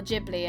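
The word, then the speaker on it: Ghibli: Heron that new studio gibli film or jibli it depends how you pronounce it but yeah we're going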